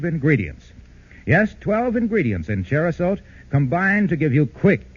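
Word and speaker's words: Cherosote: Yes, 12 ingredients in Cherasote combined to give you quick and effective relief from the tickling throat and miserable coughing sessions caused by colds.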